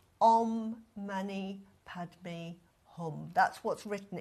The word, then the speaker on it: Mani: And then you're going to say Mani, which is a 2-syllable word, which means jewel, which is seeking the enlightenment, because enlightenment is the jewel.